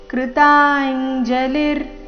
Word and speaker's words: ಕೃತಾಂಜಲಿರ್: ಆಘಾತ ವಚನಂಕೆ ಕೇಶವಸ್ಯ ಕೃತಾಂಜಲಿರ್ ಕೃತಾಂಜಲಿರ್ ಇಲ್ಲಿ ಅರ್ಧ ರಕಾರ ಕೃತಾಂಜಲಿರ್ ವೇಪಮಾನ ಕಿರೀಟಿ ವೇಪಮಾನ